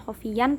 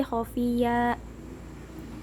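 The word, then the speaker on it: خفيا: Kemudian ada mad iwad khofiyya karena ada fathah tanwin panjang di akhir kalimat, jadi bacanya bukan khofiyan tapi khofiyya.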